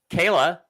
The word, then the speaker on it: Kayla: Kayla, rhymes with Layla, says, my neurosurgeon has set my cervical surgery for my neck on June 30th.